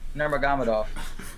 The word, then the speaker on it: Nurmagomedov: It's Nurmagomedov.